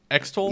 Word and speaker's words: Extol: the first one's name extol yeah like extoling virtues Oh I thought that